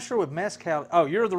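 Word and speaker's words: mezcal: Kilro says messcal pronounced mezcow.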